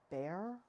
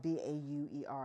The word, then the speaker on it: Bauer: And I realized when I was watching an artist, I think her name is Jocelyn Baer, but it's spelled B-A-U-E-R, I think, or Bauer.